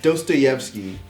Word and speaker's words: Dostoevsky: yeah even though I love laptop but he mispronounced is his name yeah but it's Dostoevsky they like how dirty is that damn be